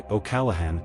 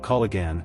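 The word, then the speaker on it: O'Callaghan: In a lot of these names, the gh is not a hard g sound. It's either silent, softened, or it changes how the word flows. That's why okalahan isn't kigan and oanessy isn't shagessi.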